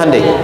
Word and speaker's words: Hyundai: bikin Honda sini Hyundai Hyundai kan dibacanya hundai kan sana Honda sini